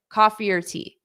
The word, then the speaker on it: coffee or tea: So instead of saying coffee or tea, we have to pronounce it together. Coffee or tea, coffee or tea. So notice, do you prefer coffee or tea? Coffee or tea? It sounds like one, coffee or tea.